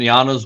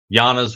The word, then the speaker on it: Yanas: So, again, I'm going to say, friggin' Yana, if you're trying to find Yanas Wolf Pack on podcast, Facebook, YouTube, and TikTok, look for and search for Yana is spelled Y-A-N-A-S. Yanas.